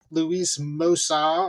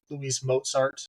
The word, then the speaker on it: Mozart: And the two characters I think I liked the most was Louis Mosa or Louis Mozart to us white people who pronounce it wrong.